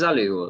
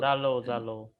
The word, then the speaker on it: Zalo: Is it Zalu? Zalo.